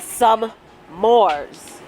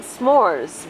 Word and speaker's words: s'mores: weird no you don't you think that i'm saying some mores but i'm not i'm saying s'mores but you're always like